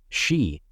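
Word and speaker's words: し: Number 4 is considered unlucky in Japan because it's pronounced the same as the word for death, shi.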